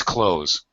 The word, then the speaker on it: clothes: Most of us pronounce clothes as clothes. It's very normal. I think this is a reduced pronunciation that personally, in my own opinion, I find completely acceptable.